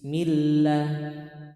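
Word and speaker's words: الله: boleh bacanya Yang Tahu lafaz Allah ketika harakat sebelumnya kasrah Mak dia dibaca tipis millah bismillah auzubillah Nah itu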